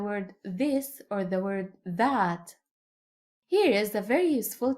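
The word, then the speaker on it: ثاء: Th This letter is pronounced like the soft th in English, like the th in the word three. Three, not like the th in the word this or the word that.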